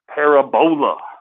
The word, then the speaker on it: parabola: Parabola is how it's phonetically said, but obviously parabola. We're going to put the emphasis on that second syllable.